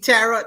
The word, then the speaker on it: tarot: You remember Gypsy TT Tarot last night?